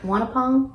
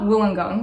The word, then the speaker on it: Wollongong: Wait, Wanapong? Am I saying it wrong? What's the university called? University of Wollongong. Oh, Wollongong. Wollongong? Wollongong.